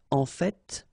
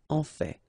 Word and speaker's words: en fait: So whether you pronounce the final T or not, you can hear both. En fait. En fait. En fait. I'd rather pronounce it personally.